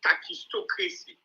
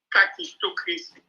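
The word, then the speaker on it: kakistocracy: And then they demonstrate khakistocracy.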